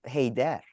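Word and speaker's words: Haider: hey Dad congrats anyway it's pronounced hey there no don't do it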